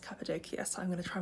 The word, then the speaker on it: Cappadocia: hello hello we have officially made it to capid doia now although I've been calling it capid doia I've now realized it's pronounced capadia so I'm going to try my best to